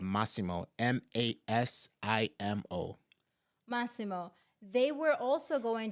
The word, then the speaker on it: Masimo: already what is what is the name please pronounce the name of of uh the Met tech company is called masimo m a i m o maimo they were also going to have a